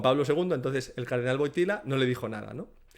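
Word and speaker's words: Wojtyła: Y Boitigua, pues dicho dicho por los italianos que dicen boitila se parece a la palabra italiana botila, que significa botella, o sea, se parece mucho, ¿no? En el cardenal Boitila y botella en italiano se dice botila.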